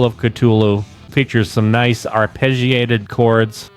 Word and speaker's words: Cthulhu: And then for the perfect closer, The Call of Cthulhu features some nice arpeggiated chords, and then they start going in with that diminished fifths.